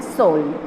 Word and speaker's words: Seoul: उसका स्पेलिंग है SEOUL, सोल.